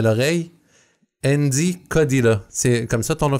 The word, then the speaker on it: Endi Kodila: Andy Kodila. C'est comme ça ton nom de famille qui se prononce?